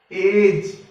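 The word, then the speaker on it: edge: ई डी जी ई, इसके अंदर भी डी साइलेंट रहेगा। एज।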